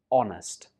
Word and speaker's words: honest: So it's not honest. It's just honest.